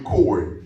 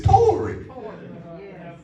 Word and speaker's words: Tory: Ever since I was growing up, Brother Tory, I will always call you Corey, but it's Tory.